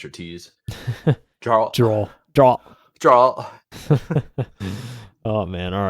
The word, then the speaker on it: Geralt: It's Geralt. Geralt. Think about it saying like a Gerald. Yeah, but with a T. Geralt.